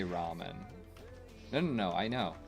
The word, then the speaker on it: ramen: a cute ass dog how about this to to show you what I'm saying we say Ramen very clearly understood as Ramen go ahead and watch a Japan a a Japanese person say Ramen no no no I